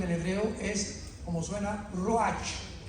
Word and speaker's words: ruach: Apunta la palabra espíritu en el hebreo, es como suena ruach, R de Raúl, U-A-C-H, pero la CH en el hebreo se pronuncia como J, ruach.